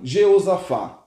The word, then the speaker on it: Jeosafá: sobre um o mago jeosafá em algumas bíblias fala josafá e eu vou falar josafá que eu gosto mais essa pronúncia mas a bíblia fala josafá e jeosafá depende da tradução da sua bíblia então esse rei josafá